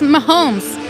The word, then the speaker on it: Mahomes: It's Mahomes.